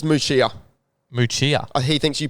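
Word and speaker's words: Muchea: Now, Google does say Moochia. However, Google will just kind of sound out the letters as they are.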